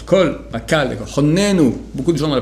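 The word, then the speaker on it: חָנֵּנוּ: Honnenu, beaucoup de gens dans la prière disent Hannenu, c'est faux, c'est Honnenu, c'est écrit avec un Kamatz, il faut prononcer Ho, Honnenu.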